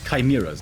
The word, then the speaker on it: chimeras: Chimeras, Neo.